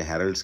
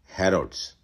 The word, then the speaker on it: Harrods: है और माफ कीजिएगा मैंने उसके बारे में नाम गलत प्रोनाउंस किया था मैंने हेरल्ड्स किया था जबकि उसका असली नाम है रोड्स सो रोड्स के बारे